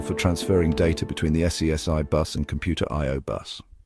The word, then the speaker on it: SCSI: It is commonly pronounced as SCSI.